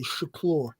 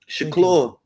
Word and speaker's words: Shakur: No, bro, you're saying his name correctly. Shakur. Shakur. Thank you so much.